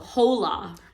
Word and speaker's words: hola: Hola. I didn't know that you don't pronounce hola. the H, so...